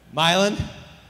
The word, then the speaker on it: Milan: He was born in Milan, I don't know how to pronounce this. It's in Ohio, though. Milan?